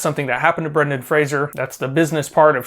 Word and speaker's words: Fraser: awards by the way I may pronounce his name Frazier I know it is Fraser it's a common mistake that many people including myself make Brendan Fraser like a razor okay before moving any